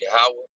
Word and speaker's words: Yahweh: Power, whose name is Yahweh, which means He is. He is everywhere and He is omnipotent. That is the ancient Paleo Hebrew way, the only proper way to say the Most High's name, which is in the ancient Paleo Hebrew.